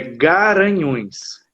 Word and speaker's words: Garanhuns: Lá no Pernambuco é Garanhuns. Garanhuns. Aqui é Guaranhuns. Talvez é a mesma origem, falta o U lá em cima por alguma questão de escrivão, talvez, mas